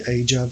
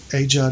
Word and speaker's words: AGEOD: And if you want to learn more about it, you can go to the AJOD forums. That's AJOD is spelled AGEOD.